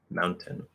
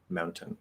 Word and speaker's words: mountain: notice i just said mountain mountain i'm pushing out a little weak t that's fully enunciated okay remember that it's